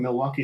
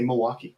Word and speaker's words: Milwaukee: You sort of butcher that first, just like people from Milwaukee say Milwaukee. We just we get rid of that. I never noticed that about. It's very interesting. We just sort of get rid of that first syllable. We just sort of slur it like we're drunk. And yeah, it's true. It's very true. And Toronto because you're just tired of that syllable. You're just tired of it.